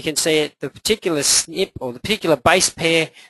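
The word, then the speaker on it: SNP: at the top and that's kind of pronounced snip is that the lingo which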